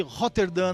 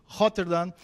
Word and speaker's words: Rotterdam: Viemos aqui para São Paulo no Tour brasileiro do pessoal da Schorem Barbershop de Rotterdam, na Holanda.